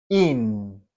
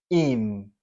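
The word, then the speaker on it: ihn: In. ¿Sí? Para el masculino de la tercera persona. In. Con N. Acá, perdón, me faltó agregarlo. Es una H muda. ¿Sí? No directamente no suena. In.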